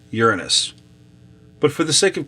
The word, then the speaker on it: Uranus: Speaking of holy and holes, the term of the planet, how to pronounce the planet is Uranus.